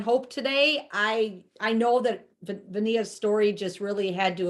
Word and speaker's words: Vania: I got to say Pennsylvania. Got it, Vania.